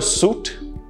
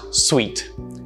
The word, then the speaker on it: suite: well the fancier rooms if you call it a suit that's wrong it's pronounced sweet yes sweet i was